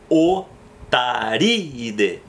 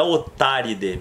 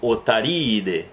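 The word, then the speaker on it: Otariidae: Então, nesse caso, não é Otáride, porque os dois Is têm que se separar. Então, a sílaba tônica vai ficar o RI, depois eu vou ter o I separado e depois aquele final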